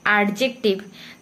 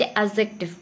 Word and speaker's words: adjective: then आउ गोटे एथरे important कथा है कि आमे जो जने जने उच्चारण करंती एडजेक्टिव, तो ए आउ जे भितरे डीटा साइलेंट रहे ताकू आज एडजेक्टिव।